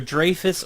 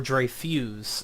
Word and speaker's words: Dreyfuss: that out for you it's either Dreyfuss or dry fuse it depends on who you talk to as to which one it is I call it Dreyfuss it's just easier rolls